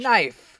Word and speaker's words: knife: In English, that sound kn doesn't really exist, because whenever there's a K and an N, you just like the K is silent in the English language. Knife.